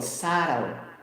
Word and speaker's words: subtle: For example, subtle. The boy is so subtle, meaning brilliant. subtle. Subtle, silent B.